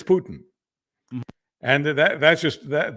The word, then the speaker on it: Putin: of Russia you know his name isn't poutine it's Putin and that that's just